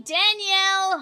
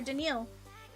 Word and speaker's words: Danielle: Danielle Hunter. Denal. Sorry, Denil. I just want to point out it is spelled like Danielle.